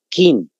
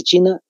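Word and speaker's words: 秦: se llama Kim pero en chino no se pronuncia como en castellano pronunciamos nosotros Kim su pronunciación en realidad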